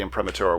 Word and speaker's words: imprimatur: up how it's printed it's an impro Prima imprimature imprimatur okay um I should know how to